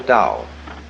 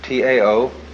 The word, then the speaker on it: Dao: So their principle of nature is called a Dao. T AO pronounced dao in the Mandarin dialect, tao in the Shanghai dialect, toe in the Cantonese dialect.